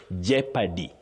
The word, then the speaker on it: jeopardy: That O in those words is silent not pronounced. So you say jeopardy.